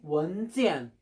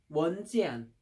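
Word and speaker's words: 文件: 그러면은 중국 발음으로 뭐라고 하지? 원지안. 원지안.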